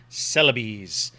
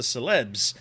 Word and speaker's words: Celebes: Now, I'm sure that most of us in the West didn't know that's how you were supposed to pronounce this. My whole life, I've looked at this word and said, oh, it's the Celebes.